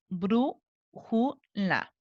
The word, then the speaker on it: brújula: Brújula tiene marcada su tilde, pero tenemos que saber cuántas sílabas son. Brújula. Esta es la última, la penúltima está en la antepenúltima, por lo tanto es una palabra esdrújula.